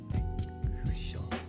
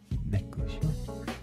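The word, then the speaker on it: 熱中症: Can you say Necchushou very slowly? It means hot heat stroke in Japanese. Necchushou.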